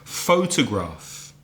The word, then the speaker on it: photograph: patterns or stress forms photograph three syllables first syllable stressed da did photograph but a person who